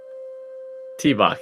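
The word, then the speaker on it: tŷ bach: The toilet is spelled T-Bach. Perfect. T-Bach.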